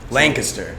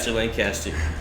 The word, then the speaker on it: Lancaster: Lancaster. Don't get mad at you if you pronounce it wrong. Lancaster.